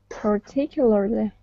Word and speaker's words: particularly: So it's per. Oh, particularly. And the stress is on tick.